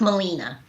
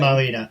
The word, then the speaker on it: Melina: It's pronounced Melina, actually. Melina.